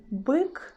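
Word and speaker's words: бык: In a word byk, byk, byk, we pronounce letter B as a hard sound B.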